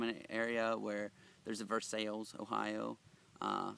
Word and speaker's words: Versailles: I come from an area where there's a versail Ohio uh spelled like Versailles.